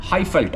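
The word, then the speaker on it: Highveld: அதே மாதிரி ஜொஹானஸ்பர்கை வந்து, அதாவது வாண்டரஸில் இருக்கக்கூடிய கிரவுண்ட், இன்ஃபேக்ட் செஞ்சுரினே அப்படி தான் சொல்லுவாங்க, ஹைஃபெல்ட் அப்படின்வாங்க. ஃபெல்ட்னா என்ன சொல்கிறது, VELDT அப்படிங்கிறத ப்ரொனவுன்ஸ் பண்ணுவாங்க.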